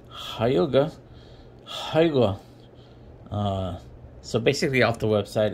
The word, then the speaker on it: Hygge: But anyway, today we're going to be doing what looks like Hygge, but it's pronounced Hygge. Hygge.